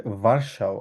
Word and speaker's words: Warschau: এটাকে আমরা বলি হচ্ছে ভার্সাও। আবার বলেন, কারণ ডাব্লিউ কে কি উচ্চারণ করি? ভে উচ্চারণ করি।